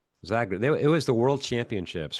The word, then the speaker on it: Zagreb: Not Zagreb. Zagreb.